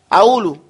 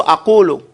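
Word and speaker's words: أقول: You sound like an Egyptian. You'll say, ha. Ha. That's how they say it. Ha. Aulu. As opposed to aqulu. They say aulu lak. They don't pronounce it.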